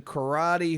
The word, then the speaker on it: Corradi: the woman is Kathleen Karate, who's previously Karate? worked... And she's a czar? This isn't real. Is right. this an Onion article you've read? Karate, by the way, is spelled Corradi.